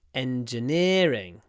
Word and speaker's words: engineering: end of the word but when we say engineering we use the double e sound which is the I call it the the serious sound serious engineering but in